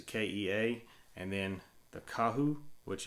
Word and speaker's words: Kea: slower speed disc and i think that's pronounced the kaya it's a kea and then the kahu